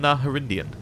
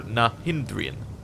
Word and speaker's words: Nahindrian: Why do you call them Naharindian? Or Nahindrian, even. I'm adding an extra syllable for no reason. Smacking his lips, the demon answers in a saccharine voice. When we say Nahindrian, we mean of the finest quality, that's all.